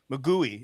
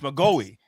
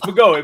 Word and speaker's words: Magoi: Everyone calls you Mouey. It's Magoi. Yeah, it's Magoy. But everyone calls me Mui or Magoo or whatever.